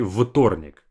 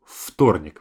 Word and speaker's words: вторник: Notice that I say вторник, like an F sound, versus it's spelled as V. I don't say вторник. We simplify it to вторник, вторник.